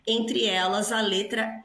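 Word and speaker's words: él: é el, não é er, É el. El. Esse L tem que subir ali para o céu da boca. El. Quando a palavra termina em L em espanhol, esse L tem que ser pronunciado.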